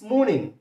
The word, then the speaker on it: morning: No, it's morning, morning, morning, morning. Ekhane r silent thakbe.